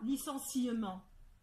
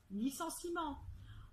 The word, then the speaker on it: licenciement: Il y a bien un E qui est écrit et pourtant, on ne le prononce pas. On dit pas licenciement. On dit licenciement.